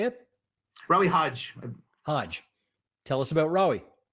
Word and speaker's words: Hage: Rawi Hodge.